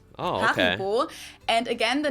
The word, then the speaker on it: Haribo: We pronounce it Haribo. Oh, okay. Haribo.